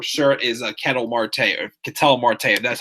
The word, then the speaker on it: Ketel Marte: up he for sure is a Ketel Marte can tell Marte that's how I pronounce his name 1 2 2 he haven't